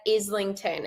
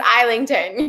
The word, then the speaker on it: Islington: to say his name so I went and I watched that interview and he says isington so okay it's isington isington that's pretty definitive yes we're gonna we're